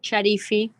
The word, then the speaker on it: Sharifi: justice uh professor sharifi that's that's how you print you pronounce that that's how you pronounce your name uh professor yes charify beautiful last name thank you